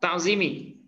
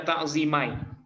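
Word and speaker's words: تعظيمي: Ta'zimi. Iya. Iya, dia masdar. Tapi karena idhofah kepada ya mutakallim, Nah, itu makanya bacanya ta'zimi. Kan nggak mungkin kita baca ta'zimai.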